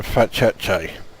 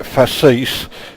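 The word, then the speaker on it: Facece: Someone asked me the other day why I keep pronouncing that system Fat Cheche. I do it for two reasons. Firstly, I do genuinely think that's how it's pronounced.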